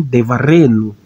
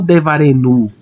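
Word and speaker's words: דְּבָרֵנוּ: Então eu vou pronunciar como devareno, não devarenu, né? Como se a sílaba tônica tivesse aqui. Não, vou pronunciar devareno.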